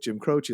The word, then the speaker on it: Jim Croce: Yeah, I mean, it's so great, the soundtrack that includes the Rick Ross stuff with Jim Croce.